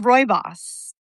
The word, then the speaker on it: Rooibos: So anyway, I'm drinking Rooibos, Rooibos tea. Oh, Rooibos tea. Did I say it wrong? Rooibos? I think it's pronounced Rooibos.